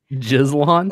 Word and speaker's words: Gislan: How do you pronounce that? Jizlon. It's like Aslan. It's like Aslan, like Jizlon. Okay. I'm buying it. I'd probably pronounce that Jilan, but I like Jizlan.